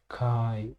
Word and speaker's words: Khai: I don't know how to spell it. Mm. Kai, not Do you Kai, know?